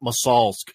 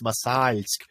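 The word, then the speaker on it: Мосальск: And the problem is it's the L with the soft sign after it, so it's not Masalsk, it's Masalsk.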